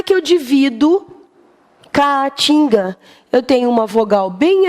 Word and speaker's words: Caatinga: palavra Caatinga O opa lembra aí cada vogal numa sílaba o que que eu faço a TIM vamos lembrar a gente aqui é um tipo de vegetação tá não é essa Caatinga com a sua não em essa daqui um ar só Caatinga essa tipo de vegetação tipo de área com vegetação tal tá Caatinga bom então vocês viram que as vogais Obrigatoriamente ficam em sílabas separadas da palavra Álcool que